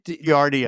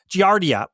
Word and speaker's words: Giardia: But but he says there was a I'm not going to try and pronounce it. The GI Gadia Gardia virus. Giardia.